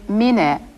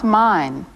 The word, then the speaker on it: Mine: Be sure to pronounce his name Mine, not mine.